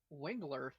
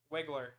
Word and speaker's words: Wiggler: Wingler? Wiggler.